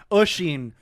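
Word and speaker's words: Oisín: Oisin, but it's spelled Usheen.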